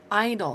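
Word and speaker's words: idle: have to remember these Idol see that's actually a two clap word but it's so short but it rhymes with Bridal and um I can't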